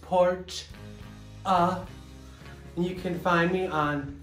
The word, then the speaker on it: Portia: Hi, I'm Portia, pronounced Porch.